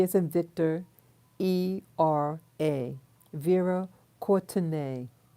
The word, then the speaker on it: Courtenay: Vera Courtenay, or some people pronounce it Courtney.